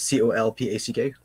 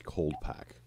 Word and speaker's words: Colpack: now coal pack is c-o-l-p-a-c-k um there's a d in there it's cold pack okay but people were